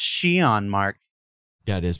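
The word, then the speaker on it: Xi'an: And if your instinct was to stop the YouTube video and go immediately to comments and say it's pronounced She-on, Mark. Yeah, it is pronounced She-on.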